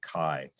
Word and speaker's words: CAI: Apparently the Europeans actually pronounce it Kai, which I said was, I was joking, actually means open in Chinese, as you well know.